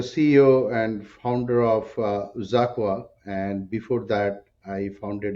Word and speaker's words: xAQUA: founder and CEO of zaka uh it looks like it's ex Aqua but I was corrected uh rightfully so uh